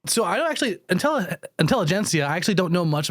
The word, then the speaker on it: Intelligencia: intensity now like it's officially gensia but that's soft G so I don't actually until intelligencia I actually don't know